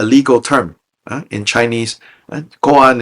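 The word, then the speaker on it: kōan: Goan is the Japanese pronunciation of these Chinese characters means public case in the sense of public record.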